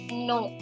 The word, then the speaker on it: noms: The nouns in French are called les noms. It's not, MS is not pronounced, it is only no. Les noms.